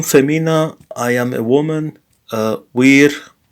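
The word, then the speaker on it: vir: Wir sum, the V is pronounced like a W here.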